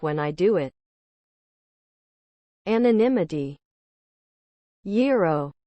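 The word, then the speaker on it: gyro: I do it anonymity yo a term for meat cooked on a rotisserie and served in pea bread is pronounced y o that's right feel free to ignore the letter G Dogecoin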